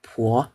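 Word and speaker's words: 婆: Kalau ini bacanya po, polang tepo ya, santian sui ke pi. Kalau tanpa air bacanya pi, artinya kulit. Ditambah air jadinya po, polang tepo yang berarti gelombang. Nah, ditambah perempuan. Jadi deh po, nenek.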